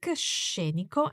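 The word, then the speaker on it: scenico: landscape is very Scenic sheniko and watch the sound of this adjective with the emphasis on the first syllable shape and it doesn't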